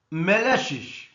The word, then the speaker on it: malicious: Malicious, here second syllable is stressed.